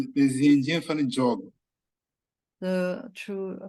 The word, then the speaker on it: yoga: La prononciation réelle du yoga est jog. Les Indiens font le jog. The true pronunciation of yoga is jog.